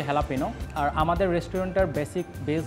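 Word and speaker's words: jalapeño: আমাদের রেস্টুরেন্টের নাম হচ্ছে হেলাপিনো মানে বেসিক্যালি এটাকে সবাই জেলাপিনো নামে চিনে বাট একচুয়াল মেক্সিকান ওয়ার্ল্ড এবং প্রোনাউন্সিয়েশন এটা হচ্ছে হেলাপিনো আর আমাদের রেস্টুরেন্টের বেসিক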